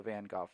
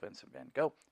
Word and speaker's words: Vincent van Gogh: team of 100 painters they're all using the van Gogh techniques or if you're an American usually you know miss van gogh vincent van gogh but Vincent van Gogh is how you actually